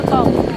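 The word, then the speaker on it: pétanque: Bacanya petang kalau Petang, di Indonesia. Kalau di luar Prancis bacanya petong. Oh, di Perancis petong bacanya.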